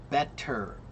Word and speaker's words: better: Like for example, the word better. Better. When you say it slowly, it's not better, it's better. Okay? But when you say it more quickly, it becomes better. Like a soft D.